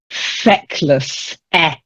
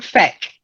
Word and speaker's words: feckless: Feckless. Feckless. Try it. Feckless. No. Try saying feck. Feck. Fact. Yeah, like wreck.